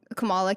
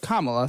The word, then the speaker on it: Kamala: There was once upon a time when Camala came out with Kamala. Thank you. You're going to get pronounce it right.